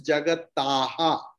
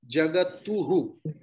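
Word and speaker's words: जगतः: If it was Jagata and Visarga, it was supposed to use Jagataha. If it was U and then Visarga, it will be Jagatuhu. So first is Jagataha. Why A? Because the preceding vowel is A.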